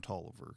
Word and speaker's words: Taliaferro: So, and I have met a relative that he still pronounces his name Tolliver.